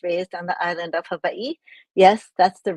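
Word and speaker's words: Hawaiʻi: I grew up and was raised on the island of Havi. Yes, that's the right way to pronounce it. The W is pronounced as a V.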